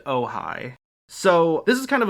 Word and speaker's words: Ojai: And now we go on to Ojai, which is pronounced Ojai.